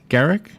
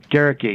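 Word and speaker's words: Gerecke: Is it Henry Garrick? Garricky, yeah. Rhymes with Cherokee.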